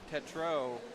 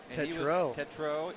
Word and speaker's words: Tetreault: So the number 55, Jack, I was in the pits earlier talking to his father, and his last name is pronounced Tetreault. Tetreault, and he was telling